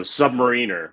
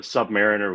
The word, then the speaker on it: submariner: received is you know the emphasis on the submarine part of the word so Submariner rather than